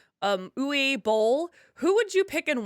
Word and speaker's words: Uwe Boll: If you could have any of your cast members play, and I always say this name wrong, Uwe Boll, who would you pick and why?